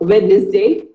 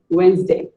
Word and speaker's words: Wednesday: Here is another common word that most of us pronounce wrong. Wednesday. Most of us say it as Wednesday, but it is not Wednesday. It is actually Wednesday.